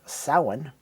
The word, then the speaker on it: Samhain: pronunciation would be uh sauwin in Gaelic I believe and if Glenn calls it Samhain that I'm calling it Samhain this Begins the use